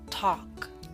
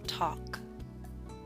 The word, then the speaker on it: talk: yawn boss taught gone talk note the L is silent in talk now I wish to